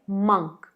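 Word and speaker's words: monk: अगला वर्ड है मंक, मंक। Spelling में ज़रूर ओ है, पर इसे मॉन्क मत पढ़िएगा, ये है मंक।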